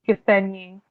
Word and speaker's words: Gisenyi: Gisenyi.